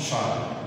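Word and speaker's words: Chasles: Ça se prononce Charles.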